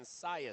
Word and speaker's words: Cius: Okay, I hear Big Gino in the back saying Sias, so we're going to call him Sias.